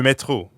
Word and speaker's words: métro: And the French R is in the middle of métro, so it sounds like you're clearing your throat.